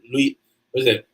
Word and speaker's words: Louisiana: I'm sure you have an accent from Louisiana. Louisiana is how it's said. Louisiana. I know it's not Louisiana. The original people from the South say Louisiana, I think it is.